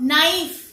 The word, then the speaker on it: knife: When we talk about knife, चाकू, सब्जी काटते हैं जिससे, K-N-I, knife की स्पेलिंग स्टार्ट हो रही, K is silent over here, K-N-I-F-E, knife.